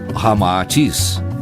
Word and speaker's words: Ramatís: masculino e feminino unindo-se Rama e atis cita ao inverso resulta Ramatis como como realmente se pronuncia em indo chinês informa Ramatis que